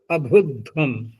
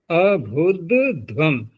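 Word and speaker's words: अभुध्वम्: दूसरा दिया है, और अब अभुध्वम, अभुध्वम, इसमें थोड़ा उच्चारण में ध्यान रखना पड़ता है, क्योंकि यहाँ महाप्राण दो हैं तो, लेकिन बीच में दकार आ चुका है बस। अभुध्वम, तुरंत ही ट्रैक चेंज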